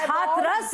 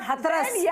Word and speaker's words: Hathras: So it is Hathras, not Hathras. So learn to pronounce the cities of UP well.